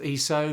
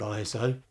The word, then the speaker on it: ISO: next place to start is with iso actually pronounced eso but most people say iso so we'll go